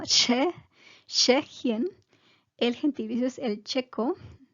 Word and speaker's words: Tschechien: Entonces, el nombre en alemán se dice Tschechien. El nombre del país, tienen que tratar de pronunciar la T, Tschechien. Y el SCH es sh, pero con la T es un poco como Tschechien.